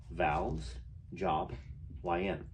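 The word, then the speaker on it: Valsjöbyn: j o b YN vals job YN that's how an American would say it but I'm not Swedish um where I made a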